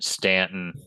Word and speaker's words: Staunton: Stanton, even though it's not spelled Stanton, it's spelled Staunton.